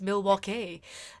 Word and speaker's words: Milwaukee: them facts about Milwaukee it's pronounced Milwaukee and he's kind of